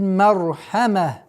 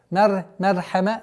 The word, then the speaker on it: المرحمة: Бил мархама. С огласовки фатха уходим на лям. Бил, так как мим является лунным звуком. Бил мар. Ра твердая. Мархама. Нет. Мархама. Ра твердый.